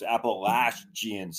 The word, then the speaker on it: Appalachian: at Appalachian State yes let me on the pronunciation before we got on the podcast folks Apple laugh jeans Appalachian everybody says it wrong everybody except me yeah